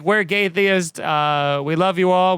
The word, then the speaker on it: Gaytheist: so their their band name was called uh gaytheist oh and uh all that gay and then theist um so spell it g-a-y is there a dash or just